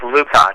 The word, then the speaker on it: Lukach: It's pronounced Lukach.